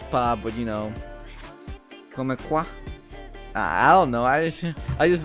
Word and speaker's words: comme quoi: The me is silent at the end of comme quoi? Is it just comme quoi then? See, this is what I mean. Half the fucking letters you don't pronounce. Why is it come? Why is it pronounced come?